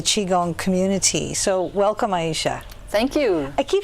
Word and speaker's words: Aisha: you i keep saying aisha because that's what your name looks like and i read a lot okay it's a I shot yes either way is fine there's many ways to pronounce it okay well yes you